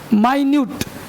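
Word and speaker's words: minute: माइन्यूट सूक्ष्म, अब माइन्यूट को तुम मिनट भी पढ़ सकते हो। अगर मिनट पढ़ोगे तो समय हो जाएगा मिनट, और माइन्यूट पढ़ोगे तो सूक्ष्म हो जाएगा।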